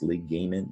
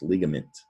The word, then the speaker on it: ligament: it's a game meant is this ligament no it's ligament ligament is a noun